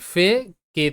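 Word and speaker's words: fake: এখানে কিন্তু শব্দের শেষে ই সাইলেন্ট। তো যখন দেখবে শব্দের শেষে ই থাকছে এবং সেই শব্দে যদি কোনো ভাওয়েল লেটার থাকে, তো ই সেখানে সাইলেন্ট থাকে। প্রতিটা শব্দে এখানে ই সাইলেন্ট থাকবে, কারণ ই বাদ দিয়ে এ ভাওয়েল আছে।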